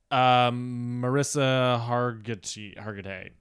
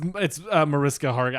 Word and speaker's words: Mariska Hargitay: Jessica Alba, Megan Good, Thelma Hopkins, Marissa Hargitay. Jessica Alba? Mariska Hargitay. Whatever. Jessica Alba? No, it's not Jessica Alba. It's Mariska Hargitay.